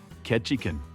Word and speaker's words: Ketchikan: It's not Juno. It's not Anchorage. It's Ketchin." The port stop that sounds like someone sneezing while trying to say catch a fish.